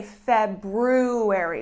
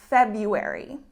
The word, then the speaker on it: February: spelling you would say February we have that be Aragon but actually the R becomes silent and we say February for example Valentine's Day